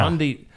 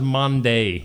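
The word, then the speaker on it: Maundy: Number eight on the list of of this list of 10, the word mandi. Yeah, mandi. I always thought it was Monday.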